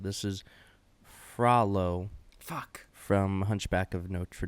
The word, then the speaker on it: Frollo: And this is according to Google how his name is pronounced. This is Frollo Fuck.